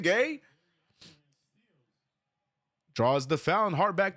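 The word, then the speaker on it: Gueye: Gay. draws the foul. Hard back to the line. Knicks steal the lead back. Now it's nine to eight. It is gay. It is pronounced gay.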